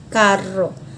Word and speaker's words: carro: Depois eu tenho a palavra carro, isso para a língua portuguesa, mas na língua espanhola a pronúncia ficaria carro, carro. Sempre o R na língua espanhola é vibrante, sempre, sempre, sempre, tá bom?